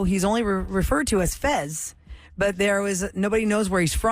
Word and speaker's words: Fez: It's spelled Fess, but they always say Fez.